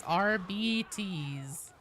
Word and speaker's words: Arbites: Savant psyker says RBDs. That is the correct pronunciation in 40k. It's RBTs. I don't like it anymore than you do. I'm just saying I specifically looked it up because I was like, it can't be that. It can't be that dumb of a pronunciation, right?